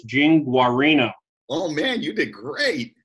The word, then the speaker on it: Guarino: If you didn't have the little subtitle there on how to pronounce it correctly, I might have said Guarino or something exactly.